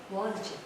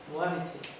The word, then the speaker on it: Boğaziçi: Ella es profesora en la, no sé pronunciarlo bien, en la, how do you pronounce your university? Boğaziçi. Boğaziçi.